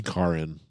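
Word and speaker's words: Caryn: Karen Elaine Johnson yes oh look how it's spelled though c-a-r-y-n that's Karen that's really interesting I never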